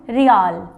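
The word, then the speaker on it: Riel: तो कंबोडिया की जो कैपिटल हुई नोम पिन्हा, करेंसी हुई रियाल। वैसे वर्ड आ रहा अपना इंग्लिश का रियल, बट करेंसी के अंदर इसका नाम रियाल दिया गया, ठीक है।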